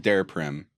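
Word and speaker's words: Daraprim: came out where you raised the price of der Prim am I am I pronouncing that right yeah yeah um you raised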